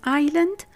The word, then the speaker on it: island: In these 3 words, the S is silent before L or LE.